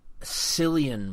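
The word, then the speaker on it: Cillian: You're better on actors names than I am, but it's it's it's with a C so it looks kind of odd, but CI I was just like Silian Murphy is how I pronounce it.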